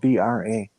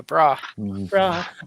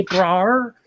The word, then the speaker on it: bra: garment that is spelled b-r-a bra yeah bra i have heard people like uh from boston say braar like no it's bra and i've heard people